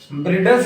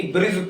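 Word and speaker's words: bridge: उच्चारण साइलेंट हो जाएगा जैसे लिखा है बी आर आई दी जी हम इसको ब्रिडल्स नहीं बल्कि ब्रिज पढ़ने हैं ब्रिज मतलब पुल होता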